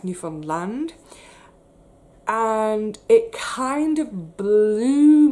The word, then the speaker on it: Newfoundland: the east in newfoundland got to get the pronunciation correct newfoundland and it kind of blew my mind he